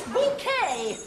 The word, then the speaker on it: Bouquet: say is Blobby and by the way it's bouquet number six blind date